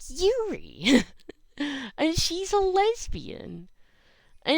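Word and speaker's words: Eurie: It's spelled with an E. Like Europe, but you're shortening it. So, like, E-U-R-I-E. So, like, Yuri. but it sounds like Yuri.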